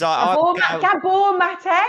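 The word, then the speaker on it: Gabor Maté: how did you put as gab mate it's gab mate that's it yeah I me pronounce it Gabby M gab M yeah I'm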